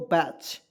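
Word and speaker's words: batch: आप देखिए यहाँ पे बी ए टी सी एच, क्या हो जाएगा दोस्तों, बैच, ठीक है। अब आइए यहाँ पे देखिए दोस्तों यू को हम लोग कैसे साइलेंट रखते हैं, ध्यान से देखिएगा।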